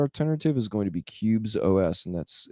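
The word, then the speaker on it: Qubes: the most secure alternative is going to be cubes OS and that's spelled q ubees o cubes o and that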